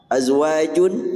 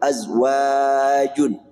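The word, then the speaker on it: أزواجٌ: Azwajun, nah ini azwaj dibaca panjang. Kalau kita membaca apa yang ada dalam tulisan ini bacanya azwaju. Tapi yang diajarkan Rasul azwajun, panjang wanya.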